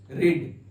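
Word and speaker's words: read: होता है रीड रिड इसका वर्ब टू होता है रेड लेकिन स्पेलिंग रिड जैसे ये देखिए वव ट v3 ये रीड का मतलब होता है पढ़ना आय देखिए इसको रीड ही इसका स्पेलिंग रीड ही होगा लेकिन इसको पढ़ेंगे रेड रीड रेड रेड ठीक है तो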